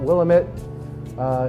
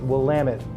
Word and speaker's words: Willamette: And again, it's not Willamette, it's Willamette in pronunciation, if you're going to be a pro about it, which you all are.